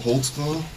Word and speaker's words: Holtzclaw: there because I don't even know how to spell it how do you say it holtzclaw holtzclaw what is that it's a German can